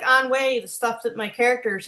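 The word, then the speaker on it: ennui: They got a lot of onway, but they pronounce it onway in English just like they pronounce Katarakway.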